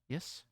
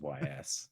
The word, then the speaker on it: Ys: Is that how you pronounce those? Yes. I said YS.